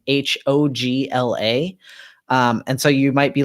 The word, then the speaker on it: Hoglah: it spells hogzilla's name h OG la and so you might be like how do you pronounce that but in the Hebrew it would be closer to hog Allah like h AG so anyways we've got